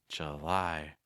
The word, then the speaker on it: July: of breath I lie July see how weak the first syllable is there it's not July it's July August August the second syllable